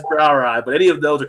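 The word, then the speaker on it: brouwerij: Belgian beers have that brow ride they start out with which is like b r o u w r i j i say to look up to pronounce it so so that know I know that's brow ey but any of those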